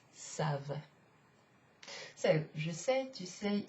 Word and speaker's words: savent: it ends with ent, you don't pronounce it like this. It's not savant. No, because that sounds like another kind of derivation of the verb savoir. Instead, it's savent.